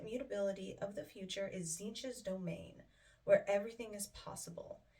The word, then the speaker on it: Tzeentch: today we are doing Tzeentch and the Demons of Tzeentch. And I am very proud to say that I can finally pronounce that correctly, because that pronunciation does not go with the spelling.